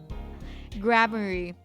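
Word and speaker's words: Gramarye: Grammary.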